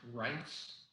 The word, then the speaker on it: Reitz: It's pronounced Reitz. Okay. Go ahead. H-T-S, but it's spelled totally different.